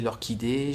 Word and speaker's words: orchidée: Et c'est marrant d'ailleurs là, parce que vous voyez, il y a un H, mais on ne le prononce pas.